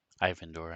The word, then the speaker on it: Ivandor: Ivandor, actually, is how you pronounce his name.